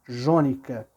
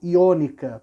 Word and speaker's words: jônica: Nós, na verdade, falamos jônica, tá, gente? Mas a pronúncia correta talvez fosse iônica. Por quê? Porque na língua grega não existe letra com som de J, de Já, G, Gi, Jó, Ju, não existe, tá?